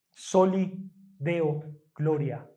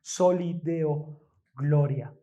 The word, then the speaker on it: Soli Deo gloria: Soli Deo gloria, como en aquel tiempo se pronunciaba en latín. Soli Deo gloria.